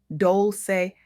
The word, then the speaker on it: Dolce: I'm your host, Leandolce, pronounced dolce like sweet softness whispered in French.